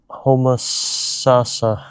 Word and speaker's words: Homosassa: Homosassa.